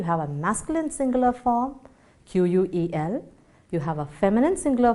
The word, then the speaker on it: quel: Pronunciation of all the 4 words is quel. Okay, it goes just quel.